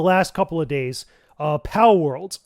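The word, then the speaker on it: Palworld: couple of days uh pow world I believe that's how you pronounce it it's pow world it's basically if you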